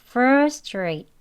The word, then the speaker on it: frustrate: 힘 조금 빼시고 frate이라고 하는 거예요 천천히 해보겠습니다 frustrate 빨리 해 볼게요 frustrate frustrate 이렇게 발음을 할 수가 있습니다 두 가지를 다 알고